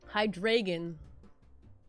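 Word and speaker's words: Hydreigon: Hydragon, but it's spelled with an E. Hydragon. Hydragon. Yeah, that's how it's said.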